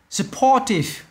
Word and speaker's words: supportive: Supportive, supportive, âm 2.